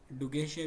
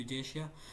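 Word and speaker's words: Dugesia: Next अगर हम एमसीक्यूस number 26 की बात करें कि इन प्लेनेरियंस सच ऐ डजेशिया डगेशिया भी इसको पढ़ते हैं। But correct pronunciation is डजेशिया।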